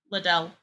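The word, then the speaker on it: Lidl: there it is I you pronounce it like little but instead of saying the T you replace it with the little D so it's little little ldel okay little all right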